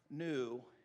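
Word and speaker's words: ἐν: into in ephesians the first one is epsilon nu n is how you say that and it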